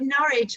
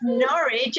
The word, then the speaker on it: Norwich: got it is it nourish right yeah it's norwich as in porridge oh that's funny thank you for that one night says no no you've got the first syllable completely married think porridge oh funny okay okay